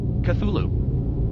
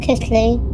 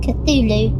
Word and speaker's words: Cthulhu: Am I saying Cthulhu right? Cthulhu. Cthulhu, not Cthulhu. Cthulhu. Apologies for mispronouncing it earlier.